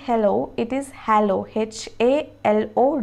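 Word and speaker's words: HaLow: hello as we say hello it is hello h a l o w and it is pronounced as halo h e y l o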